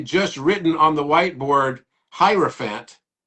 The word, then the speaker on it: hierophant: written on the Whiteboard hierophant because it rhymes with elephant as well he' written